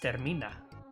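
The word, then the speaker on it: Termina: Actually pronounced Terminina.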